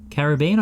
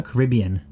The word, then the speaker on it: Caribbean: Sorry, Caribbean or Caribbean? Well, that's just a different inflection, isn't it? Different emphasis and a different syllable, so don't come at me.